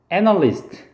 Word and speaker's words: analyst: analyst.